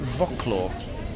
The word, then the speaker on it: Wrocław: Is it Wrocław or Wrocław? The city in Poland, spelled W-R-O-C-L-A-W. Wrocław, I think. And the Polish W is pronounced as V.